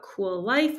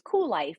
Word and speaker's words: Kuel: to the website and it is spelled with a K so it's cool life but it's k-u-e-l life and there you can